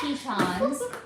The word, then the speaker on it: Tetons: It's pronounced Tetons.